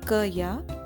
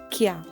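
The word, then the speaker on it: क्या: here you will see the curve is half and it is joined to here that means that curve will not be pronounced completely so it is not going to be Kaya it's going to be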